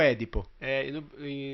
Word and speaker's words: Édipo: É Edipo ou Édipo? No Brasil é Édipo e na Itália é Edipo.